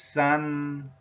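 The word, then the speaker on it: 三: And Chinese pronunciation in mainland China is san, tone number one.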